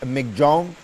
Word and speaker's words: Michaung: pronounce it uh is supposedly supposed to be pronounced as MC Jong uh is named by Myanmar and means strength